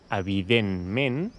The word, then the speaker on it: evidentment: I per exemple una paraula com "evidentment", veieu que hi ha dues E que es pronuncien /e/, així una /e/ tancada, que això normalment no hauria de ser possible si només hi hagués una síl·laba tònica, però com dic, aquestes paraules tenen dues síl·labes tòniques.